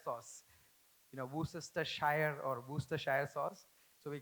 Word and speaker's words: Worcestershire: become what is the most difficult sauce to pronounce in the kitchen. For us chefs, it's W sauce, Worcestershire sauce. You know, Worcestershire or Worcestershire sauce.